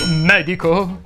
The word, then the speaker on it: medico: chiedi al tuo medico medico si pronuncia con la e aperta così come molte altre parole sdrucciole tipo Pergamo Bergamo eccetera nel video precedente abbiamo